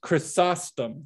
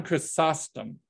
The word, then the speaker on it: Chrysostom: to say uh chris chrysostom john chrysostom i'll let you you know add in an extra syllable john chrysostom and john christosome is